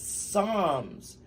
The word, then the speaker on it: Psalms: Wayne Mama asked yes Psalms 685 Wayne answered with confidence close his mom said it says Psalms the p is silent so RNE had said